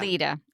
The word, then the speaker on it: Alleta: So her name, the ex-wife, is Alita or Alleta. It's spelled Alleta, but it's pronounced Alita. Alita.